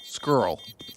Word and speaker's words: squirrel: what squirrel squirrel squirrel you're not saying all the letters you're not you do the same thing squirrel squirrel s q u i r r yeah we just go a little bit softer with it squirrel squirrel that sounds